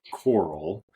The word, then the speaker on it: Carl: is funny to me Carl later adopted the nickname Coral which was the southern pronunciation of his name have you guys seen